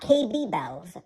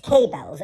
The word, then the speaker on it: K-Bells: No, not KB Bells. I keep telling everybody that the second B is silent. It's K-Bells, and Laura is right.